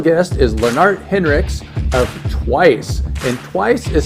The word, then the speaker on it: Twaice: And so what is it that you're doing with Twice? And let's just say how it is spelled. It's twice with an AI in it.